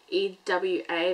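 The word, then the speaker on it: Ieva: I am, if you don't know my name, phonetically I'd say it's E-W-A, that's how I'd say it, not Eva, not E-V-A.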